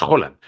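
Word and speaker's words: Haaland: caso de erlin halan halan no es halan es hollan pero En España se le he dicho siempre halan si yo en el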